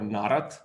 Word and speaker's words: Narat: The other speaker today is Narat, or Narat. You will correct me. I'm from Primorska. Narat, yeah. Narat, thanks. I'm from Primorska, so it's always the other way around as I pronounce it.